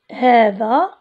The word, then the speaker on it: هذا: الصحيحه هذه بهذه الطريقه هذا ايضا لا تكتب الالف هذا كلمه ثانيه هذان